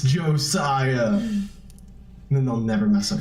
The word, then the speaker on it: Josiah: how it is it's Josiah Josiah and it's an S not a Z Josiah Josiah a tiger